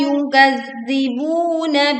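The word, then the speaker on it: يُكَذِّبُ: Alladzina yukazzibuna biyaumiddin. Wa ma yukazzibu bihi illa kullu mu'tadin asim. Wa ma yukazzibu, panjangkan ma 2 harokat. Yukazzibu, tekan pada huruf za bertasydid.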